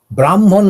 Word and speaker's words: ব্রহ্মণ: যেহেতু তিনি সর্বব্যাপী তাই তার নাম দেওয়া হলো ব্রহ্ম ব্রাহ্মণ নয় ব্রাহ্মণ মানে আমাদের যে একটা গোত্র কাষ্টের মধ্যে পড়ে যাচ্ছে জাতির মধ্যে পড়ছে না হচ্ছে ব্রহ্মণ এইযে ব্রহ্ম বা ব্রহ্মণ যেভাবে উচ্চারণ হোক সেই ব্রহ্মণ তিনি কি রকম